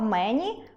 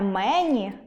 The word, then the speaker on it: мені: Друге, не мЕні, а менІ.